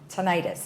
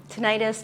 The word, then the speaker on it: tinnitus: And, there's always a lot of information that you have, but today we're going to talk about tinnitus. Is that how I pronounce it? Tinnitus, tinnitus, both are correct.